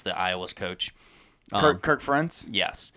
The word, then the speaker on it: Ferentz: I can't pronounce the Iowa's coach. Kirk Ferentz?